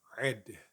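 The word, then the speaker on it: עד: It is the Hebrew word ed, ed, spelled with an ain and with a dalet.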